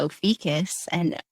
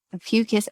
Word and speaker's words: Ophiuchus: long, long time, and it says that there's two ways to pronounce it. So I always say Ophiuchus. That dictionary has both Ophiuchus and Ophiuchus. So some people say Ophiuchus with a kind of like oligarchs or oligarchs, take your pick.